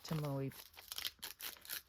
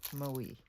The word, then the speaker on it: Tomoe: I don't like to waste like Tomoe Actually, I I just learned I've been saying it wrong. It's Tomo River paper, not Tomoe.